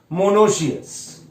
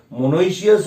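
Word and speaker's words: monoecious: Actually pronunciation है डायोशियस, मोनोशियस. ठीक. बट हमें उसके स्पेलिंग्स के लिए ध्यान रखना पड़ेगा, जिसके वजह से हमें यहां पर ई ऐड करना पड़ रहा है. देखो, इसलिए हम लोग थोड़ा सा बोल रहे हैं ऐसे करके मोनोइशियस और डायोशियस. ठीक. But actual pronunciation is मोनोशियस एंड डायोशियस.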